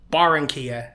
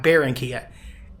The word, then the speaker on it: Barranquilla: it to barenia columia it's barenia not baronia in English if it's b a r r it's automatically bear like Barracuda so that's what made me want to pronounce it baronia instead of barenia pronounce the A and